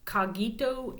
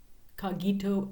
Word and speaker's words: cogito: And cogito sounds like cognition to me, so that's how I'm pronouncing it. Cogito instead of cogito. I think it's better with the hard G.